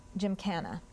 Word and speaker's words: gymkhana: Gymkhana. Are there any alternate pronunciations? Gymkhana.